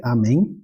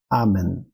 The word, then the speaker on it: amen: E, por último, cuidado ao não dizer amém, né? Lembrar que a pronúncia do latim a gente vai colocar a tônica na penúltima sílaba, então vai ser amen, tá bom?